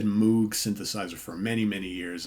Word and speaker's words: Moog: Hammond organ, grand piano, clavinet, pipe organ, Moog. I said Moog synthesizer for many, many years, and until I was corrected a number of years ago, say, no, it's pronounced Moog.